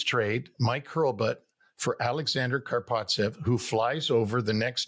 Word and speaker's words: Karpovtsev: He says, Karpovtsev. I go, okay. I call Pierre Paget back and I said, we'll take this guy, Karpovtsev. And so we make this trade. Mike Hurlbutt for Alexander Karpovtsev, who flies over the next day or within